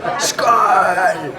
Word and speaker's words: Skål: How do you say cheers? Is it skål? Skål.